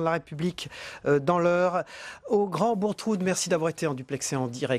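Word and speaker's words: Grand-Bourgtheroulde: C'est de vous que je tiens le fait qu'il faut prononcer Grand Bourtroud.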